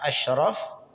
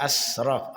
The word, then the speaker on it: asyraf: Berikutnya tertukarnya huruf shin dengan sin pada kata asyraf sehingga dibaca asraf.